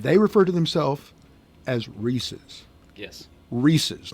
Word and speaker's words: Reese's: Here's the thing because it rhymes with pieces. It doesn't. Okay, all right. Well, here's the thing. Reese's Pieces, it does too.